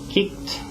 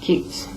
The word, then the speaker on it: kicked: So the ed sound will be a T sound.